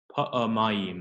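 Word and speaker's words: פעמיים: You just pronounce the schwa. So pa'amayim. Okay. So you would kind of pretend that there's nothing there.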